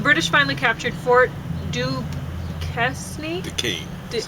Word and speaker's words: Duquesne: Duquesne, that's how you say it.